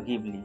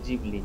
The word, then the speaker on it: Ghibli: Italia উচ্চারণে সেই বিমানের নামও ছিল গিবলি। তিনি সেই নাম শুনেছিলেন এবং নামের মানে জেনে তার আরো ভালো লেগেছিল গিবলি যার মানে ছিল গরম মরুভূমিতে ঠান্ডা বাতাস তাই নিজের স্টুডিও তৈরির সময় তিনি সেই নামই বেছে নিয়েছিলেন। জাপানি উচ্চারণে যা হয়েছিল জিবলি।